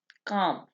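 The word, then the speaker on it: calm: काम, इसमें एल जो है ये साइलेंट होगा। ठीक है, काम।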